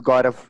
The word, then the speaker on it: Gaurav: Okay, yeah, tell us your name again so that they hear it correctly pronounced at least once during this program. Yeah, so it's my name is Gaurav.